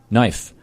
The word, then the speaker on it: knife: Knife. K is silent.